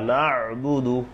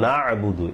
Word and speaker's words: নাবুদু: টান মালিকি এরপরে ইয়াকা নাবুদু ইয়াকা নাস্তাইন এই যে নাবুদু ইয়া ইয়াতে এক আলিফ টান নাবুদু আমাদের সম্ভবত 95% লোকের